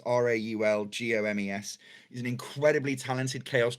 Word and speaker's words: Raul Gomez: At the same time as that, also Raul Gomez, who, his name is spelled as it sounds, Raulgomes.